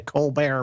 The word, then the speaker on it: Colbert: No T pronounced on that, just like the Colbert Report.